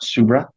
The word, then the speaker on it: Subra: that right and your your name is pronounced subra yes okay then did you